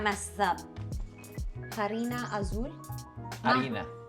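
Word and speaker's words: harina: this up Arina Azul Arina Arina you don't pronounce the h okay Arina Azul we're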